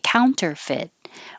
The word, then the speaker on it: counterfeit: the end position counter you don't have to release the t counter counterfeit and you can hold the t at the end constitute again hold the